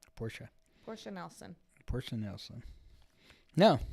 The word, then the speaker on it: Portia: Portia.